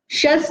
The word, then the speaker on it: शस्: मैंने उसको एक समझ शस बोला ना, शस, शस और शस, उसमें अंतर है ना प्रोनाउंसिएशन में। शस बोला है मतलब स आधा है, श स ऐसा बोलोगे तो इसमें अ आया है।